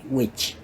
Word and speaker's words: which: Nah, ini pengucapannya sama dengan yang mana ya? Kayak gini. Artinya yang tukang santet ya. Pengucapannya 100% sama.